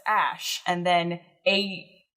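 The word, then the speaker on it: Æ: letter X and then the character is pronounced ash and then a -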